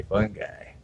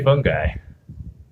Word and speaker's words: fungi: stuff it's totally fungi love the way Americans pronounce words we say fun guy yeah I say fungi yeah I totally was